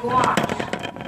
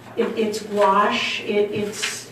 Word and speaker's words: gouache: Gouache. You guys are gonna have to help me on the pronunciation of that word. Gouache.